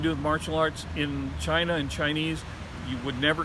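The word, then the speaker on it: ch'i: spelling is used for chi in Wade Giles. The word chi should actually be C'-Hi. That would be pronounced chi.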